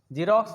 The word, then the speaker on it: Xerox: जीरोक्स में एक्स होता है, XEROX, एक्स का उच्चारण हम लोग शुरू में ज करते हैं, लास्ट में एक्स का उच्चारण एक्स ही कर देते हैं, यानी अक्स कर सकते हैं ऐसे, है ना। जीरोक्स एक्स का उच्चारण शुरू में क्या करेंगे, ज करेंगे, ठीक है।